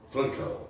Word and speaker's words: Frankl: Frankl, é a pronúncia do alemão, né?